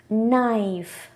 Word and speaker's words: knife: ஒரு என் லெட்டருக்கு முன்னாடி வரக்கூடிய கே எப்பவுமே silent. See the examples. Knee, knife, no, knock.